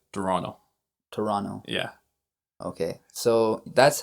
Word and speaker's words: Toronto: I mean, when we say that in Spanish, we say Toronto. Right. We knew it as Toronto. Yeah. So we drop that T.